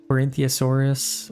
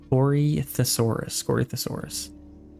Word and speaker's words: Corythosaurus: Okay, we have our Corinthiasaurus, or how do you say that? Corythosaurus.